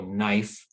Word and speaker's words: knife: pronounce the n sound the same is true for the k and digraph in english now in english we just produ pronounce the n sound so knife or not we have